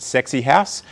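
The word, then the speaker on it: Sekisui House: builders i've worked for seka sui house the japanese always pronounced it sexy house uh hutchison builders and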